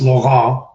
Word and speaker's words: Laurent: It's pronounced Laurent, but if people try to say it, they might twist their tongue and get hurt. So I'm just like, Laurent is fine.